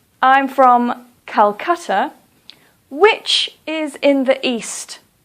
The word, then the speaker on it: Calcutta: Hanoi or for example Calcutta please don't say Kolkata please say Calcutta the reason that we